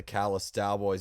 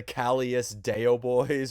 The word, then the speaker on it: Callous Daoboys: Once people realize that it's the Dallas Cowboys with the letters reversed, they're usually like, "Oh, okay, I get it now."